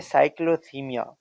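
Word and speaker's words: cyclothymia: इसके अलावा होता है साइक्लोथीमिया, जो ऊपर लिखा है इसकी प्रोनाउंसिएशन है।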